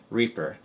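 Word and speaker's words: R34P3R: The first one is pronounced Reaper."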